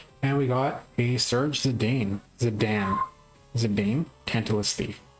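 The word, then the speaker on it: Zidane: And we got a Serge Zedane. Zadam Zedane. Tantalus thief. I think it's Zadane. I'm used to Zinaden Zadan.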